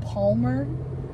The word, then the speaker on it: Palmer: You don't even have to pronounce the L.